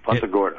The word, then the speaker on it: Punta Gorda: Is that how you pronounce it? Yes. Punta Gorda.